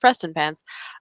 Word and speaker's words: Prestonpans: much prestonpans um which looks like it should be pronounced differently but is actually pronounced prestonpans so we will start